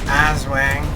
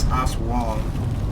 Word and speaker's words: Aswang: Azwang. They can't really pronounce things really well in this game. It's actually pronounced Aswang, not Aswang.